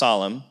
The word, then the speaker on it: Salem: Salem but it's pronounced solom okay and it means peace king of solom Peace that's what solom means almost Shalom but solom okay now as the